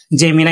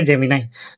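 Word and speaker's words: Gemini: এম আই এন আই জেমিনা এটা অনেকে জেমি উচ্চারণ করে এটা সে উচ্চারণ হবে জেমিনাই তো আপনি চার্চে ক্লিক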